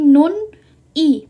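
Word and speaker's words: 눈이: Jadi nun i, bukan nun i bacanya ya. Jadi bacanya digabung, jadinya nuni.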